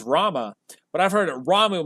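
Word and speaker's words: Ramuh: years of my life it was saying um ramu ramu's not as one of the summons that's not how you pronounced his name it's Rama but I've heard it ramu my whole life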